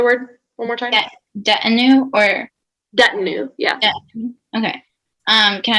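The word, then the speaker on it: detinue: you say the word one more time or that new yeah okay um can i have the language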